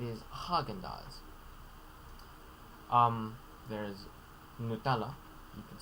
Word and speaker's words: Nutella: haagen-dazs um there is nutella you could say nutella with this take note of the nutella rather than nutella um although if you want to go for a little more original italian pronunciation nutella the common anglicized